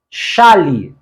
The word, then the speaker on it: chale: Chale, chale, como paroxítona mesmo, existe. Chale aqui é uma espécie de peixe. Então, esta forma está correta. Não confunda chale, paroxítona, chale, com chalé, a palavra oxítona e acentuada.